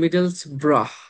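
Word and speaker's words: Middlesbrough: আবার দেখেন ইংল্যান্ডে একটা জায়গা আছে সেটাকে আমরা বলি মিডেলস ব্রাহ।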